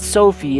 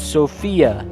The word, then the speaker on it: Sophia: Her name is not Sophie, it's Sophia. Golly.